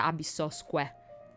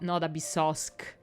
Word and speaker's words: Abyssosque: I'm pretty sure the pronunciation is Ad Astra Abyssosque, because it's Latin. It's not Abyssosque. Like it was, I don't know, French or English.